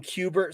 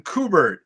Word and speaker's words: Kubert: I got to give you props, Josh, because pretty much everybody on YouTube is like, Adam Kubert. Kubert. I'm like, no, it's Kubert.